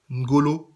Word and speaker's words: N'Golo: c'est celui qu'on appelle Ngolo Kanté et à chaque fois que j'entends Ngolo Kanté j'ai envie de me tirer une balle en fait on devrait prononcer une Golo Kanté donc tous mes amis